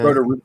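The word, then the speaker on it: Rodoreda: And can you pronounce her last name or her name? Roderero? Is that Roderera? Yeah. Roderera. Okay.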